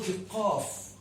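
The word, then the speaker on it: قاف: Next letter is called Qaf.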